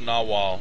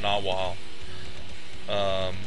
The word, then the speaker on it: Nahual: Yes, it's pronounced Nahual. I actually checked with Urquidezj first before saying it on the show, because I had a feeling I would pronounce it wrong. So it's pronounced Nahual. Like a narwhal, but without the R. The unicorn of the sea, which I think might be appropriate. But it is not the narwhal, it is the Nahual.